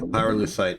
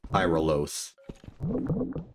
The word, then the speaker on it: pyrolusite: Yeah, pyrolusite is... Well, I mean, I'm pronouncing it how it is actually spelled, as opposed to inventing a new word, like pyrolos.